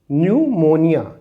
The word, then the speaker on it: pneumonia: silent हो तो देखिए यहां पर पी साइलेंट है तो इसे हम पढ़ेंगे न्यूमोनिया इट न्यूमोनिया यहां पर